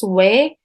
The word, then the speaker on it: 외: let's review Hansa again this fanta's pronunciation is way and its meaning is